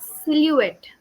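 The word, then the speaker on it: silhouette: e t t e it's silouette right silou yeah silou yes yes so when I encountered this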